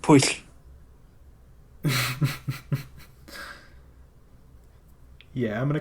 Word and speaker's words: Pwyll: Like there's a in the Mabinignon, there's a tale of this king whose his name is spelled Pwyll. It's pronounced push. Yeah, I'm gonna call him Pule. Pow. Pule?